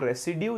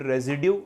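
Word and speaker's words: residue: में लेना होता है, दैट इज कॉल्ड रेसिड्यू या फिर रेजिड्यू, आप जो भी इसको बोलना चाहें, प्रोनाउंसिएशन से कोई फर्क नहीं पड़ता है।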